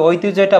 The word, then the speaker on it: ঐতিহ্য: এর পাশাপাশি আরো একটা তথ্য তোমাকে জানতে হবে ঐতিহ্যটা বানান এর হচ্ছে উচ্চারণটা কি হবে ঐতিহ্য এটার উচ্চারণ আসতে পারে